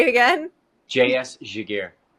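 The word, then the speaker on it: Giguère: team, I tried to look up the guy's pronunciation, so here we go. I'm going to give it a Giguere. Say it again. J.S. Giguere. Giguere.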